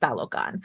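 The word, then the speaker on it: Tlalocan: didn't like was that they anglicized talogon so that is t-l-a-l-o-c-a-n and they took out the TL and I'm like you could have just made them say it like you could have just made them say it right they just felt differently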